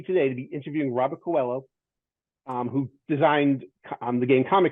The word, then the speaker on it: Coelho: The right pronunciation would be Coelho.